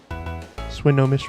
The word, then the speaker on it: Swinomish: Swinomish was right. How do people mispronounce that?